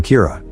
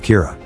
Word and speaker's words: Kira: this and calls him Kira which is the Japanese pronunciation of the word killer some people are in